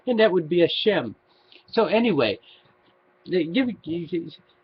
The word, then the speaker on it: Shem: to the Hebrews up what it's pronounced in english is shem and yeah and the